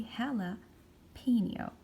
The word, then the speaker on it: jalapeño: at this word jalapeno it's a word that comes from another language this is not an English word this is a Spanish word that's why I'm pronouncing this J letter as H so I will say hella P neo okay so what